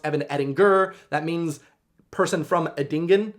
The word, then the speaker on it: Edinger: My name is actually supposed to be pronounced Evan Edinger.